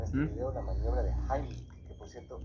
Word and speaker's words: Heimlich: Bien, vamos a ver en este video la maniobra de Heimlich, que por cierto, esa es la pronunciación correcta porque está en alemán.